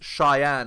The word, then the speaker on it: Chian: to pronounce her name it's Cheyenne apparently even though it's spelled weird um so Cheyenne look